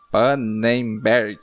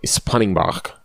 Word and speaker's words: Spannenberg: Eu acho que essa é a pronúncia certa. Jean Pannenberg. Não, é Jean Spannenberg. Olha, boa, Spannenberg. É porque eu olhei no Instagram dele e tem o S na frente do Pannenberg. É Spannenberg, é tudo junto.